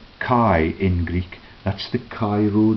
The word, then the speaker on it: chi: The letter X and is pronounced Kai in Greek.